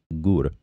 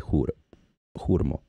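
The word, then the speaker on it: ГУР МО: citizens of Ukraine, so some pronounce it Hurmo and some Gur, like G-U-R, and it's just a difference in language, but that would be Hurmo in Ukrainian.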